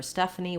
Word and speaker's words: Stephanie: stephanie and a nickname for stephanie would just be stuff that first syllable you may see stephanie